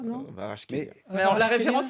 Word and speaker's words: Kvaratskhelia: Eh bien, réécoutons comment lui prononce son propre nom. My name is Khvicha Kvaratskhelia. Khvicha Kvaratskhelia.